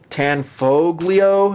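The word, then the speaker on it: Tanfoglio: some of those are excellent the Jericho 941 tan foglio is how you say it TZ 75 they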